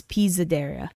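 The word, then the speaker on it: Pisadeira: It's just that the S is more Z-like, so it's Pizzadera. They say it a lot nicer. They say it like Pizzadera.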